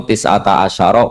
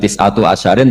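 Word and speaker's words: تسعة عشر: Padahal itu jadi mubtada muakharti alaiha iku tetap ing atase neroko tisata asyaro utawi 19. Tetap bacanya bukan tisatu asyarin tapi tisata asyar.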